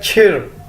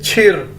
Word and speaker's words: chi: चाइनीज़ के अंदर हम CH को हम छे के तौर पर, छतरी वाले छे के तौर पर प्रोनाउंस करते हैं, हम बोलते हैं। और CHI बज़ाहिर तो ये छी नज़र आ रहा है, लेकिन इसके अंदर एक आर छुपा हुआ है। इसे कैसे बोलेंगे? छिर।